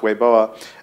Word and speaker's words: Weibo: to be on weoa which you might know weibo which is the big um Chinese Network pronounced weoa uh which uh would